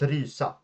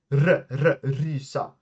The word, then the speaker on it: rysa: For example, if I say, like, to shiver in Swedish is rysa, att rysa, rysa. You hear that r? That is a hard sound to master if you didn't grow up pronouncing it.